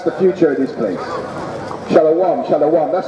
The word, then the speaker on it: Shalom: Shalom, shalom.